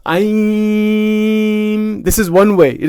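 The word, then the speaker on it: ऐं: To speak it out loud, Om, Aim, I'm speaking it out loud for the purpose of showing you how it is spoken. It's Aim.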